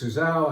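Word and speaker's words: Sousão: valley of portugal so the portuguese name for the grave is suzao and you cross the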